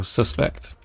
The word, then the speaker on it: suspect: So, suspect. We emphasize the sus in suspect.